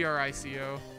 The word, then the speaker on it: Trico: It's like T-R-I-C-O.